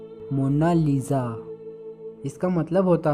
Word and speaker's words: Mona Lisa: कोई इसे मोनालिसा कहता है तो कोई मोनालिसा कहता है, लेकिन इटालियन में इसकी करेक्ट प्रोनाउंसिएशन है मोनालिसा।